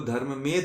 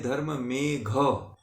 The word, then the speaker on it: धर्ममेघ: और इसका जो नाम है धर्म मेघ, घ वाला घ, ध नहीं है। अगर ऐसा आप लोग उच्चारण करते हैं, ऐसा बोलते हैं तो ये नहीं है। इसको आप लोग सुधार कर लेंगे कि धर्म मेघ है।